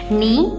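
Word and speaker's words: knee: नी में K silent है, नाउ में K, नाइफ में K, राइट RIGHT, राइट, यहाँ पे G और H क्या है, दोनों साइलेंट लेटर्स हैं।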